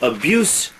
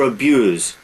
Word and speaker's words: abuse: Now, abuse or abuse, one is the noun, one is the verb. They are spelled the same way. They're pronounced differently.